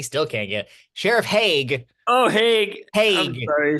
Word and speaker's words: Hague: I'm the sheriff, Sheriff. Damn, okay, for the audience, I told him how to pronounce that before we started, and he still can't get it. Sheriff Hague.